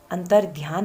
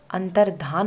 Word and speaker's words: अंतर्धान: यह भी प्रसिद्ध है अंतर्ध्यान नहीं अंतर्धान होता है यह भी कई परीक्षाओं में पूछा जा चुका है क्योंकि हम बचपन से अंतर्ध्यान है सुनते आए हैं अंतर्ध्यान है उच्चारण करते आए हैं और अंतर्ध्यान ही लिखते आए हैं है जबकि सही है अंतर्धान को आगे तक तो